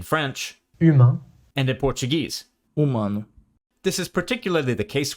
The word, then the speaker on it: humano: But some Portuguese words still end in ano, these days pronounced anu. Take the words for human in French humain, and in Portuguese. humano, This is particularly the